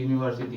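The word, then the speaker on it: university: हाँ, तो इसका मतलब पहला अक्षर का ही प्रोनाउंसिएशन करके देखना है कौन सा साउंड आ रहा है। तो देखिए यहाँ हम बोले कि यू क्या है, यू है, तो यो आ रहा है ना पहले, इसमें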